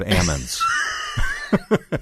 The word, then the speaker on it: almonds: saying almonds instead of Ammons do you know that you do not say that well I grew up in a very small portion of California that where they grow olives and Ammons and that's how they say it there so I've had to